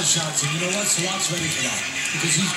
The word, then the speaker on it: Sillakh: You know, you look at the name Sillakh, it's spelled S-I-L-L-A-K-H, almost like silk.